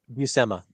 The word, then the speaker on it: Buscema: Buscema. Like it's not a sh sound in the middle.